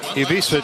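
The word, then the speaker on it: Ivišić: 7'1", 255-pound sophomore Tomislav Ivisic, I guess, is that how that's pronounced? Emphasis on the first syllable.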